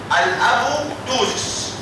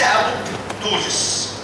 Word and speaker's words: apoptosis: اللي بعده كاتيجري بي الابوبتوزس وليس ابوبتوزس. في ناس بتنطقها على فكره ابوبتوزس، يعني الامريكان بيقولوا عليه ابوبتوزس، ولكن ده مش الصح.